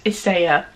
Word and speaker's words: Isager: I believe the way to pronounce it is Isager.